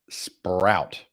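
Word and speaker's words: Sproat: play of the week for me is Brandon sprout and before we yank this for the clip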